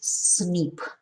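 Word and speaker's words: SNP: a single nucleotide polymorphism or cnp pronounces snip scientists are studying uh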